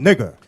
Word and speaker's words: Niger: Simeon, that was called Niger. Now you see that in Africa. You see that map right there? You see, right? It says the same way. It's spelled the same, y'all? Say the same.